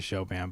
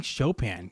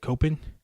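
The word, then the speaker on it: Chopin: They pronounced it Copen. Copen. I mean, I know I don't say Shopan as Shopan would say it. Uh, Shopan is an impossible name to say it because people want you to say it like he's French sometimes, but he wasn't French. I understand he lived in Paris for a very long time. Um, so who knows? But we we say Shopan, but Copen.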